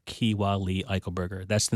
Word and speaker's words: Eichelberger: And my last name was Eichelberger. Keewa Lee Eichelberger.